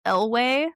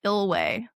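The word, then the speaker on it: Eyllwe: Um, apparently the uh the place that Nhemia is from is pronounced Elway. Elway. Elway.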